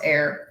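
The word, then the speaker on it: Aeir: with are Freya and a e i r um it's pronounce air um and I have statues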